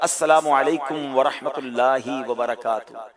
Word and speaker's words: السلام علیکم ورحمۃ اللہ وبرکاتہ: چلا کیا بول رہے ہیں۔ صحیح طریقے سے تلفظ کے ساتھ دوبارہ پڑھیں گے، السلام علیکم ورحمۃ اللہ وبرکاتہ۔ جواب کیا دینا ہے؟